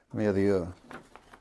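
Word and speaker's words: Mérieux: Stanley Plin Pastor Morak I can't pronounce mayor.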